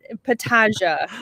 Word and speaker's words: Petaja: So if you could please let me know and let our audience know how to pronounce your last name You're not accurately. Petaja. You're not alone. Petaja. Shea Petaja.